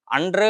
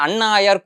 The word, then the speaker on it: அன்று: அதாவது திருநடந்த தாண்டகத்தில வர பாட்டு அது அன்று ஆயர் குலமகளுக்கு அறையன் தன்னை அப்படின்னு அந்த பாட்டு ஆரம்பிக்கிறது. அடியன் அத சொல்றச்ச அண்ணாயர் குலமகளுக்கு அறையன் தன்னை அப்படின்னு சொல்லிட்டேன் மாத்தி சொல்லிட்டேன் அன்றுக்கு பதிலா அண்ணு அப்படின்னு சொல்லிட்டேன்.